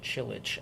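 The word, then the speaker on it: Čilić: was that guy's name Marin chillit I believe is how you pronounce it he won the uh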